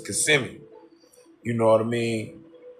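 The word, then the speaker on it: Kissimmee: Orlando it's called CMI when you look at it the pronunciation of it it looks like kissm or something like that but it's CMI you know what I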